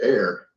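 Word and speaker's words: ἀήρ: alpha epsilon rho, but it's pronounced just like we pronounce air.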